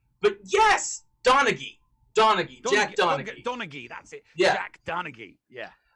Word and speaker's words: Donaghy: i say his name but yes donaghy donaghy donaghy that's it yeah donaghy yeah freaking love 30